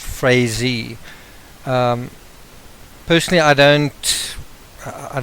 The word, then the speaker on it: Frazee: Um, I'm I would be more inclined to say Frisy, but I've been told by a journalist um I think with the Gazette that that he his name is pronounced Frezy and um other people um have said the same.